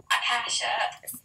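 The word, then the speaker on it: acacia: five more pieces of aasha wood it's AA aasha wood it's per it's pronounced ACAA acasha I need my five pieces of aasha wood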